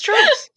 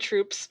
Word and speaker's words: tropes: Wow, you just said it like you spell it. What? It's tropes. That's what I said, right? It sounded like you said troops.